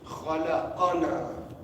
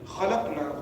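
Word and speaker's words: خلقنا: For example, reading khalaqana, khalaqana, he created us. Instead of reading khalaqna, we created.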